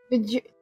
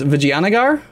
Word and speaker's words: Vijayanagar: Vijarganar? Vijarganar? You mean, yeah. I think that one's Vijayanagar, but... That one definitely gets messed up a lot by people because of its most obvious spelling.